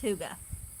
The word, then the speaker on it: hygge: tomatoes a little bit hygge is h-y-g-g-e and it's pronounced tuga I know it doesn't